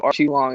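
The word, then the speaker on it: Aoriqileng: So Archie Long is how you say that dude's name.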